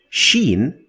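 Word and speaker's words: شين: on top of it sheen is to be compared to the combination of sh in english sh not ch like the sound at the beginning of the word sharp sharp so sharp sound this is the she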